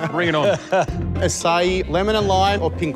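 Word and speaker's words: açaí: How do you say that? Is it Aki? Acai. Acai. Acai.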